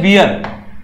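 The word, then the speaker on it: weir: क्या बोलते हैं हम इसको, स्पिलवे, स्पिलवे, या फिर इसको बोलते हैं वियर, डब्ल्यू ई आई आर होता है, डब्ल्यू आई ई आर होती है, स्पेलिंग देख लेना, है ना, या तो स्पिलवे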